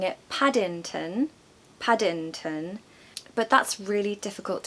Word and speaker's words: Paddington: There's a short A there, very quick A in the back of the throat. Pad, padding, ing. There's your nasal sound. And of course we have a schwa, which is the sound so it's un. The last syllable is un.